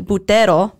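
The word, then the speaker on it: buttero: BTO yes so um it's spelled b u t t e r o so we would want to say BTO but they most Italian words the emphasis is right away in the first syllable so BTO and there's actually a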